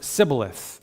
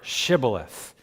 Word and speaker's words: shibboleth: they looked, incredibly similarly, they had a word that they pronounced very differently. And the word was Sibboleth or Shibboleth. And whether you said Sibboleth or Shibboleth, you would know what group they were from.